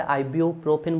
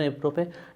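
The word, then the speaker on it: ibuprofen: Aspirin, paracetamol, फिनेसिटिन और इबुप्रोफिन आपके, आप अपने हिसाब से आइब्यूप्रोफिन बोल सकते हो लेकिन प्रोनाउंसिएशन इबुप्रोफिन, नेप्रोक्जिन, ये आपके।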